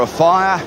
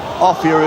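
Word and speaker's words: Offiah: they're going well well Martin offier or a fire offier is the correct pronunciation but he likes a fire cuz it rhymes with Chariot oh he's missed it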